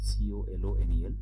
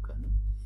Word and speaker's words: colonel: the spelling is correct c-o-l-o-n-el we don't say colonel we say kernel and the second one